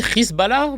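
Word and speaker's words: Hezbollah: Ça se dit Risbala maintenant.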